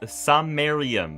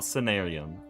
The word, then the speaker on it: Samarium: It is Samarium, not Senarium or Senarium.